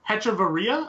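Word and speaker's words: Hechavarría: him in here but I'm terrible at pronouncing his name eat me Hechavarria I think is pretty close you're one of two the last name is spot on last name last name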